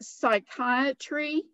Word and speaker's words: psychiatry: pretty um and like psychiatry psychiatry is spelled p s y there's a silent p that starts the word so there are a